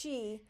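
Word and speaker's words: qi: on neural paths called meridians to unlock key pronounced Chi and rebalance the flow of Yin and Yang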